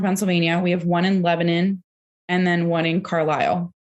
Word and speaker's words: Lebanon: I always thought it was Lebanon. It's Lebanon.